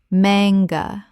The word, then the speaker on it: manga: ka-re-o-ke karaoke Word 202 manga Common mispronunciation man-ga Correct pronunciation man-ga Two syllables with the stress on the first. The A is short, not long.